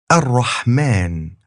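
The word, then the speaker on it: الرحمٰن: So here's Ar-Rahman, and that ma syllable near the end has a long a sound marked with a tiny alif.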